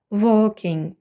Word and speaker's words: walking: читатиметься як O і в сполученні A K L не вимовляється і тому аби компенсувати цю відсутність стає подовженою Walking суфікс ING у суфіксі